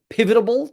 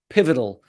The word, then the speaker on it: pivotal: it it is hugely pivotal pivotable did I added a syllable in there pivotal in uh in world